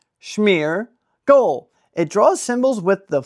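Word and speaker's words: Smeargle: For everyone's favorite segment of the day, Pokémon pronunciation of the day. Ow. Smeargole. Smeargole.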